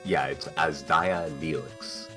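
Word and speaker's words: Azdaja Knelix: Sorry, I just wanted to say, I checked the pronunciation doc that I have, and it's Asdaya Neelix.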